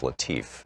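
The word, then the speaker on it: Latiff: Our book today is Future War, Preparing for the New Global Battlefield by Robert, I believe it's pronounced Latif, L-A-T-I-F-F.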